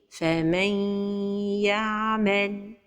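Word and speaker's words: فمن يعمل: L'erreur et la prononciation de l'idgham sont prononcées al-ghunna. فَمَنْ يَعْمَلْ. C'est comme si on donne juste un temps plus long pour la lettre ya. Et cet idgham se fait avec ghunna. مَنْ ya. Donc la prononciation correcte est فَمَنْ يَعْمَلْ.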